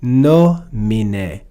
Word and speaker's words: nomine: So here we see the word nomine, nomine. We see that E is short, so we're not going to put accent on a short vowel. So it moves to the third to last syllable, nomine.